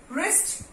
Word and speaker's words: wrist: रिस्ट, डब्ल्यू is silent.